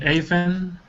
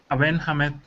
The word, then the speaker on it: Aben Hamed: You can call me Aven. Avon? Yeah, but the real pronunciation is Aben Hamed.